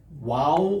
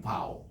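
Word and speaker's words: וו: 좀 헷갈리니까 그냥 여러분들이 요 W만 기억하시기 바랍니다. 와우 혹은 바우. 독일식으로 읽으면 바우, 영어식으로 읽으면 와우 이렇게 했는데 요즘은 이게 미국계 저 유대인들이 많기 때문에 와우라고 그냥 그렇게 발음을 합니다.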